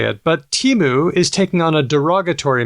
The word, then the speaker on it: Temu: Temu. Well, I only see it in writing, so I never hear anybody say it. But Temu is taking on a derogatory meaning, as in calling Peter Dutton Temu Trump.